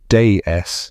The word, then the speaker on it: DS: The DS pronounced de in French, which sounds like deceiving goddess, spent 18 years in secret development.